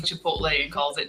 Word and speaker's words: Chipotle: That reminds me of that old Jack in the Box commercial where Jack keeps mispronouncing Chipotle and calls it Chipoodle.